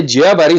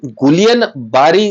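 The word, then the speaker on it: Guillain-Barré: काय परिस्थिती आहे ते जियाबारी सिंड्रोम त्याचं स्पेलिंग गुलियन बॅरी सिंड्रोम असा आहे परंतु उच्चार करताना जिया बॅरी सिंड्रोम तो जिया तो नाकातून निघणारा शब्द आहे जिया बॅरी सिंड्रोम जसा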